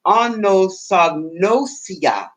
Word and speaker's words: anosognosia: It's called anosognosia. Anosognosia. And that's spelled let me get my eyes on. That's spelled ANOSOG, like go, NOSIA.